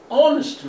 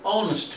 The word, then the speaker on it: honest: ولكن an honest man. يوجد لدينا H هنا تبدأ كمان بحرف الH ولكن الH هذه لا تلفظ. وهذا شيء استثنائي والاستثناءات هذه قليلة جدا الواقع ولكنها موجودة. An honest man.